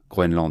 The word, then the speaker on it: Groenland: Groenland, non, parce que parfois on le prononce mal, mais c'est bien Groenland avec un N.